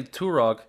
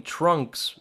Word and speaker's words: Turok: Like the time we played Turok, and on the title screen, he didn't say Turok, he called the game Trunks, like the Dragon Ball Z character.